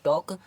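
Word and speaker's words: talk: पढ़ेंगे हफ ठीक है के से पहले टी ए एल के इसको पढ़ेंगे टॉक और अगर एम से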